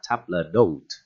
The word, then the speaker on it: table d'hôte: Table d'hôte. Table d'hôte. Tab nè, bạn ngắt cái từ tab này ra nha, đừng đọc là table ha.